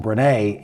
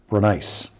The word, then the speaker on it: Brenneis: I called him Brenneis in the one-on-one interview. Now I know it's Chris Brenneis.